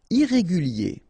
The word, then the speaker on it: irrégulier: Irrégulier. Okay, remember, I-E-R at the end of your word here, it will be ye, okay?